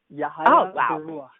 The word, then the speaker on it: Yahaya Baruwa: Yahaya Baruwa, tell me how I'm supposed to be pronouncing that, because I feel like I'm skipping. Oh, no, you got it right. It's Yahaya Baruwa.